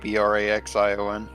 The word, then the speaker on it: Braxion: Braxian, like Braxion. Xian. Braxian. Braxion. Like Axiom, but with an N. Not Axiom. Not Axiom. Yeah, but with an N instead.